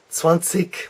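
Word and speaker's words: zwanzig: 20 which is Swansea there's two ways to pronounce that in it depends on where you are in Germany it's regionalism but you'll hear at the Swan seek Swan seek where the K sounds that's perhaps a little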